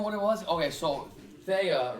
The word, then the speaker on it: Theia: it even a discrepancy whether it was taiya it's spelled th because you know what it was okay so thea right i guess apparently